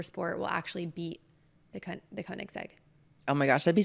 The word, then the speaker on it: Koenigsegg: How do you pronounce it? Koenigsegg. Koenigsegg.